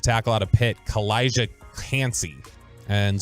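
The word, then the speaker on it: Kancey: Eagles Take defensive tackle out of pit kalijah can't see and how do you say the last name Elijah can't see k-a-n-c-e-y okay I would if you've got Bijan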